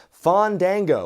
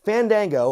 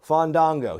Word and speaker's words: Fandango: in commentary Vic Josif calling him Fon dango which i think is the absolute worst most incorrect way you can pronounce his name it's either Fandango or Fandango he completely messed up the vowels on both sides it's down to Rudolph